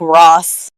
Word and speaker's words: Ra's: Yeah, I heard it was actually supposed to be kind of pronounced like Ross. Yeah. But I'm so... I don't know, Raish just sounds cooler.